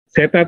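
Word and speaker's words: theta: Seta itu ini Mas bacanya, seta. Ini bacanya huruf Yunani ini kalau dibaca adalah seta.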